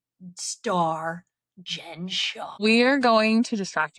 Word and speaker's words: Shah: star Jen Shah.